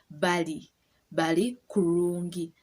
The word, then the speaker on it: bali kurungi: But if you just say they are well, they bali kurungi. The R is silent. You don't put the R there anywhere.